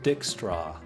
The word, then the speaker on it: Dijkstra: This guy is Dijkstra. I'm going to say that's a silent J.